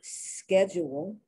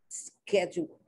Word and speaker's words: schedule: the same the brits the americans say schedule they pronounce the c8 like the ch schedule and the brits pronounce the schedule schedule they pronounce the ch with his other pronunciation the harder pronunciation they're both correct they're both correct let's